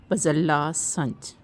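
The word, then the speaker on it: بذلہ سنج: تھے احمد ندیم قاسمی۔ درست تلفظ ہے بزلہ سنج۔ بزلہ سنج معنی ظریف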